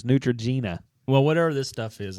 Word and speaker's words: Neutrogena: what is it called nutr is it nutr Nutrena yeah even the gallery says it's Neutrogena well whatever this stuff is it's like doesn't